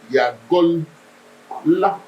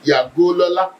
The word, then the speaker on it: Yagola: Yagola. Did you see that? Yes, sir. Yes. But you sing Yagolola. That is what everybody normally pronounce now. Yagolola. But you know why it was like that? It was Yagola. Yeah. It's not Yago. Yagol. Yeah. La.